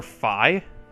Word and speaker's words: Fi: Well, most people pronounce him or her Fi, like the real pronunciation, but I like to have a little twisty pronunciation like Fee, not like a Fee Fi Fo Fum.